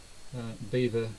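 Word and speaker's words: Belvoir: seedling see oh by the way and it's pronounced Beaver seedling but it's spelt de L yeah it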